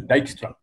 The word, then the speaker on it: Dijkstra: So his name is Dijkstra. J is pronounced as Y.